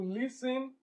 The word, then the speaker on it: listen: She refused to listen is not listening. This T here is silent.